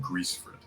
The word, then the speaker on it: Grisfrid: So, Grisfrid, it would be pronounced Greasefrid. He is. He has grease in his name.